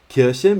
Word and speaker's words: Kirche: Kirche means church. Remember to pronounce it with the sh sound, with your tongue touching your bottom teeth.